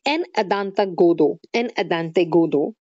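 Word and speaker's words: En attendant Godot: It was published in 52 in French first as En Adante Godo was the pronunciation, and first produced in 1953.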